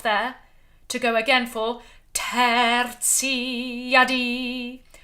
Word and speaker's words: tertia die: You can take a quaver off there to go again for tertia die. Tertia die. All bright, open vowels. Die. Lifting up. If you can roll your R, then do.